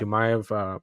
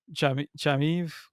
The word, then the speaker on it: Chimaev: I really hope that Robert Whitaker, Chamaev, how do you say it? Chimaev, yeah, I got yeah.